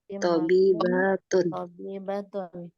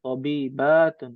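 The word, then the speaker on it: طبيبة: Hamidun tabibun menjadi Fatimatu tabibatun. Tadi ada yang bacanya panjang, tabibatun ya. Tentu tidak ya, dibacanya pendek. Tabibatun. Sahih.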